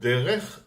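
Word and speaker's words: דרך: Okay, the word derech, de, is the letter d with a segol, so it's de, and then r, resh, so it's r with the segol, so re, de, re, and then ch is a chaf sofit. Chaf sofit, it's a kaf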